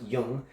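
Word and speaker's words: Jung: young man Jim it's Ju and gee but pronounced young my young was 38 okay so this young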